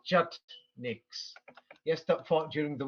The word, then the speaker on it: Chetnik: There's a group of people called Jutniks, yes, that fought during the wars, and the name became famous in the 19th century. People pronounce it in different ways. In English, they'll say Chetnik.